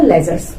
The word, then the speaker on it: ledger: है उनको बोला जाएगा लेजर्स। तो जितनी भी ट्रांजेक्शन थी उनको हमने अलग अलग बुक्स में शो कर दिया और इन बुक्स का नाम क्या दिया, लेजर। यहाँ पर डी, LEDGER, डी is silent.